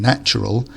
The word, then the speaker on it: natural: pronunciation here is that the first a changes sound in the different forms of the word so a nature is an a sound whereas in natural it becomes an a